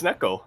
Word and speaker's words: neko: apparently in Japanese it's Neko.